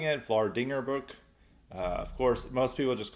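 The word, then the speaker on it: Vlaardingerbroek: I'm going to say that's how the best way of pronouncing it, Vlardingerbroek.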